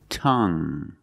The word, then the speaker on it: tongue: we have this word tongue the u e at the end is silent so we pronounce it like young tongue you have only the nasal sound there's no G it's just a sound tongue this is my tongue